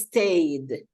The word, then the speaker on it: stayed: In this case, we don't pronounce the E, and we're going to see that next week. So in this case, it's stayed.